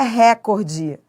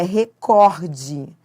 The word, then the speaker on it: recorde: A pronúncia correta não é essa. É recorde. Então, é uma paroxítona, recorde. Então, olha, não se deve falar recorde. Aliás, as pessoas falam recorde por causa do inglês, né?